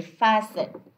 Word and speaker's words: fasten: Okay, so this ta is silent as well. We say fasten.